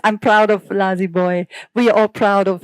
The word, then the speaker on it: Lazzybwoy: Is this the right pronunciation? Hey, please Boy, manage. I yeah. see. Is it Lazzybwoy?